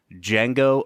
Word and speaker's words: Django: at the 2012 film D Jango Unchained the D is silent the D is silent Brad how you doing